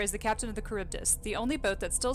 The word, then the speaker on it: Charybdis: a new Oh so I found so it's pronounced Charybdis and we can thank my mother for correcting